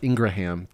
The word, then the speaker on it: Ingraham: getting interviewed on laura ingram's show the ingram angle or ingraham depending on how you want to pronounce it and so get back